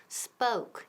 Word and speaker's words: spoke: El verbo to speak se convierte en spoke, y ojo con la pronunciación, spoke. Esa O suena como O-U, spoke.